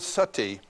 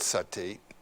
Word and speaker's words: sati: You know the word sati in Sanskrit it's spelled s a ti long i.